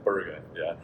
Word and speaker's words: Borg: original RPE scale that Borg developed, I'm pronouncing it like an American, is actually Berger.